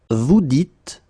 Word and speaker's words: vous dites: So it's not vous disiez, okay, as many would think, but then it's vous dites, okay, final S not pronounced, vous dites.